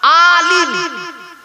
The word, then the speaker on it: আলাম: ইলিম ইলিম আলাম আলাম আলিম আলিম আল্লামা আলাম একটু মানে শুনে ইলিম মানে জ্ঞান আলাম মানে পতাকা পতাকা এইযে পতাকা আলাম আতে টান হবে আলা মানে জগত আলহামদুলিল্লাহি